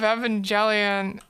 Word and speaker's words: Evangelion: Rebuild of Evangelion, the hard G.